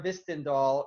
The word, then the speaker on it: Hvistendahl: She just said, Jim, the H is silent. So it's Mara Hvistendahl.